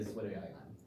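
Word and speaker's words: zwitterion: This is a weird name. Rhymes with Twitter. Oh, it's Zwitter ion.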